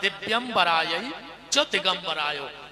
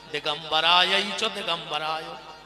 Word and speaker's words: दिव्य दिगंबराय: शुद्ध उच्चारण है दिव्य दिगंबराय और आदमी जल्दी जल्दी में बोलत है दिगंबराय दिगंबराय दोनों बार दिगंबर दिगंबर कहता है ये मंत्र है